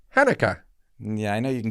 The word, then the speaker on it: Hanukkah: can be tricky because hanukkah is not an english word it's a hebrew word and the first letter has no equivalent sound in english the first letter is pet there's no in english so people in english kind of make it up as they go along that they do it